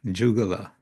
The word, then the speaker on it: jugala: Jugala, and here we have a Sanskrit word slightly adjusted from the Sanskrit ya, or y, to a j, jugal, which means a pair, or a combination of two, you could say.